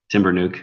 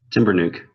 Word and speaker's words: Timbernock: No, Timber nuke.